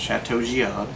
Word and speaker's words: Chateau Jiahu: giad spelled kind of words j-i-a-h-u but it's pronounced chateau giad and it's from dogfish shibuya which is out